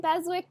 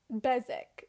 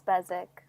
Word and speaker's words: Beswick: but the audiobook said besik and i was like why is there a w then no and i were i was remembering that they don't really pronounce their w's when i was in